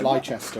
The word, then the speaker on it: Leicester: Leicester, it's pronounced.